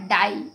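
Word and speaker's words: die: ठीक, इसी प्रकार से देखिए आई ई में डी आई ई, ठीक है ना, डाई, इसका प्रोनाउंसिएशन क्या होगा, डाई।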